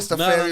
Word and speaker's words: Rastafari: Pronounce that again. I was saying wrong. Rastafari.